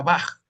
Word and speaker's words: Bach: y todo eso, que la CH suena como una J. Por eso nosotros decimos el músico este famoso Juan Sebastián Bach. Sin embargo, se escribe Bach, pero se pronuncia Bach.